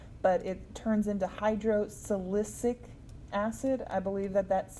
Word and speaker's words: silicic: it turns into hydro silicic acid i believe that that's c that first c at least is pronounced as an s you're not going to